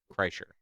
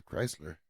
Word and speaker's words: Kreischer: Kreischer. Bert Kreischer. Kreischer. Yeah, like Kreischer. Okay. I think that guy's is called the Machine. Yeah. I keep wanting to say Chrysler.